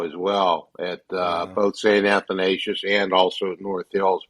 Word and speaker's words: Athanasius: And by the way, that's how you say it, Harv. Athanasius.